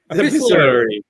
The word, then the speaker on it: epistolary: Epistolary. What is it, Greg? Epistolary. That's right.